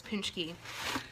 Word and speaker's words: Paczki: Well, I brought one for me, but Paczki, yeah, and that's exactly how you spell it, which makes no absolute sense to me. P-A-C-Z-K-I is Paczki. So, I never thought I liked Paczkis.